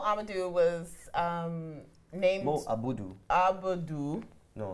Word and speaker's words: Abudu: Abudu.